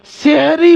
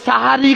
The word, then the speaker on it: সাহারি: এগুলো পরিত্যাগ করতে হবে নাম্বার চার সেহরি বলা ভুল অনেক মানুষ রামাদান মাসে সাহারি খাওয়াকে বলে এসো সেহরি খেয়ে নাও জি না সেহরি উচ্চারণটা ভুল অনেক ক্যালেন্ডারে লেখা আছে সেহরির সময় এতটা জি না বানান ভুল সেহরি হবে না কথাটা সাহারি হবে কোরআন মাজিদে আল্লাহ তাআলা